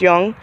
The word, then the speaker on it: Jung: we ordered from Young's it's j-u-n-g looks like Jung but it's I think it's pronounced Young um and they didn't have